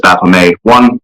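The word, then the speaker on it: Baphomet: I I pronounce Baffomet as Bame one uh because of the significant quantity of French uh French Canadian heritage that I possess.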